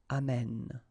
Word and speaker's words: amène: And then it will change, of course, the pronunciation, because you will have this sound open, amène, okay?